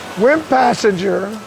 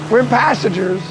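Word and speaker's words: Wimpissinger: Wimp Passenger, I think that's how you pronounce it.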